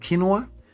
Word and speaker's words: quinoa: monitor here it's not nice though quinoa it's pronounced quinoa quinoa okay K okay all right I got